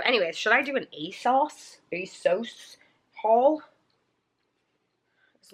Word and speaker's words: ASOS: calling it a sauce they were calling a sauce and i was like if i've been saying this wrong this whole time asos i mean i guess that's how you say it if that's how they were saying it in their commercial but like kind of